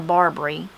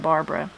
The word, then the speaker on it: Barbara: And Barbary, also you'll hear Barbara. It changed to Barbary instead of Barbara.